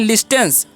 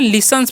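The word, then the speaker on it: listens: है इसे पढ़ते हैं लिस्टेंस नहीं इसे क्या पढ़ना है लिसेंस पढ़ना है क्या पढ़ना है लिसेंस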